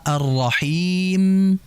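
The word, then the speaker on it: الرحيم: Kemudian masih sama arrahim itu sama seperti alalamin. Fokus pada mad arid di sukun di akhir hurufnya itu apa? Mim. Maka jelaskan ghunah mim walaupun tidak sempurna gunahnya. Arrahmanirrahim. Ya, dijelaskan him.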